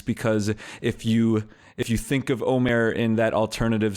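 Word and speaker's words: עומר: So it's spelled with an ayin in Hebrew, and it's Omer. And it refers to this measure of barley, this agricultural counting that happens. But what's funny is that if you say Omer typically and it's spelled with an aleph, it means to talk, basically.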